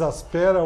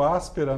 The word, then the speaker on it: Aspera: A gente aqui usando um diz Aspera, o outro Áspera, né? Conforme o continente a gente muda a pronúncia, mas enfim, aqui no Brasil a gente fala mais Aspera do que Áspera.